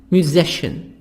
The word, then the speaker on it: musician: Musician. Musician. Mu S Z. هنطق الاس هنا Z. Music. C-I-N شن.